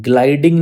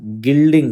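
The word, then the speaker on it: gilding: मैं आपको बताता हूं देखो ग्लाइडिंग नहीं होता गिल्डिंग होता है गिल्डिंग गिल्ड द पिल यहां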